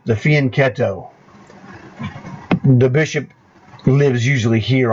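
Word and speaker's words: fianchetto: see this formation here this is the fien ketto that's how you pronounce the Italian word all right the fian ketto the bishop lives usually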